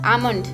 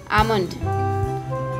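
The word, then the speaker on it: almond: एल वो silent है, इसके लिए उसको हम इंग्लिश में प्रोनाउंस करेंगे आमंड, आमंड।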